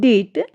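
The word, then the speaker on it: debt: Rules to यदि किसी शब्द में टी से ठीक पहले बी आता है तो बी जो हमारा है वह साइलेंट रहता है।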